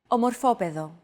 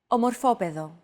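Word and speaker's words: ομορφόπαιδο: the same root however the accent mark had to be moved over to a different syllable in order to comply with our accentuation golden rule by the way did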